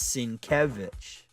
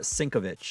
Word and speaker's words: Sienkiewicz: It's Sienkiewicz, not Sinkovich or whatever or something.